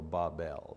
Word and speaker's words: Babel: it you know and the phonetics say the pronunciation should be BA w ve L so Bob L Bob makes no difference